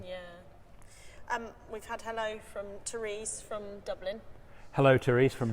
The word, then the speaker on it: Therese: We've had hello from Therese from Dublin. Hello, Therese from Dublin. Is it Therese or Teresa? I would say Therese. It's an E at the end.